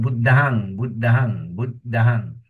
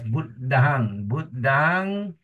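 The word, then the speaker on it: Buddhaṃ: So you see the word Buddhahang. Not Buddham. It's be pronounced as Buddhahang.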